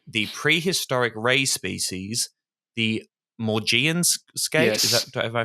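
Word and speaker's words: Maugean skate: And it is seriously endangering the prehistoric ray species, the Morian skate. Is that am I pronouncing that correctly? Morgian skate.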